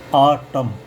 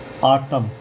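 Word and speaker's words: autumn: लेकिन अगर किसी शब्द के अंत में एन आ रहा है और एन से पहले एम है तो एन साइलेंट रहता है।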